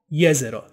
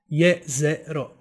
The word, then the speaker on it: Jezero: So, now that you know where the name comes from, here is the correct pronunciation of the name of the crater. Jezero. Jezero. Jezero.